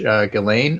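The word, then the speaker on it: Ghislaine: found time to wish ghilane max well apparently the S is silent just you know oh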